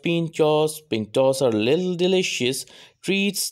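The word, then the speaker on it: pintxos: Pronounced Pinchos, Pintos are little delicious treats that have grown to be a treasured Basque custom.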